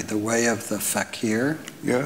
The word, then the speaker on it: fakir: spoke of, I'm not sure I'm going to pronounce this correctly, the way of the fakir. Yeah, fakir.